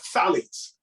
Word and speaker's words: phthalates: felix right yeah yeah phthalates alex the ph is is silent i have to learn